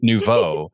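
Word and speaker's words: Nouveau: It was Novo and it's and it's it's spelled in such a way that no one knows.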